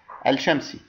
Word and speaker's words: الشمس: شمسي، يعني حالة الحرف الشمسي. عندما أقول الشمس فعليا ألفظ الألف فقط ولا ألفظ اللام، بينما عندما أقول القمر ألفظ الألف ومع اللام.